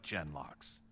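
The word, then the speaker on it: genlock: slaughtered the Carta like Jen locks Jen soft G cool gotcha most of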